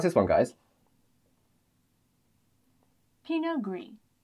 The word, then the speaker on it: Pinot Gris: Pinot Gris. Pinot Gris. So the T is actually silent here. It just ends in the Pinot.